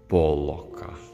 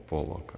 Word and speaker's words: Поллок: Да, вот Татьяна, как наш сегодняшний эксперт по искусству, может более правильно произносить имена художников, особенно Поллока. Поллока, да. Когда дойдем до современного искусства, правильно говорить Поллок, а не Поллок.